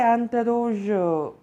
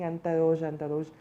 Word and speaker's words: interrogé: I guess I have been pronouncing interroge. No, there's accent aigu at the end, so it has to be pronounced as A.